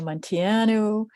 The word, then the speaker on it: Munteanu: Hi, I'm Munteanu. That's pronounced, well, I pronounce it Munteanu. I should be pronouncing it Munteanu, but then I'd have to move my hands to say it.